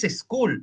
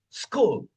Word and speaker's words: school: School no es school, es school. Entonces, préstale la S al anterior y di I love my school. I love my school. Y en una semana desaparece la E fantasma definitivamente.